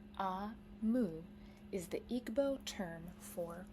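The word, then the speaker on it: Omu: by o MOA note to the reader AMU pronounced AMU is the Igbo term for queen means Queen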